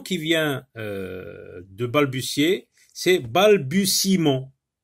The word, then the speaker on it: balbutiement: Alors, on forme le nom qui vient de balbutier, c'est balbutiement. Alors, vous remarquez que le E ici ne se prononce pas. Et ce E se trouve à l'intérieur du mot.